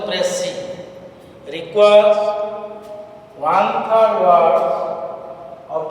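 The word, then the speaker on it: précis: So Pressy, P-R-E-C-I-S, the pronunciation is Pressy, requires one third word of the original passage, but summary doesn't have any fixed length.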